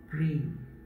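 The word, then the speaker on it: प्रेम: The first syllable is pa. And the last syllable is ma. And in between, there is a half vowel sound of R and A, prem.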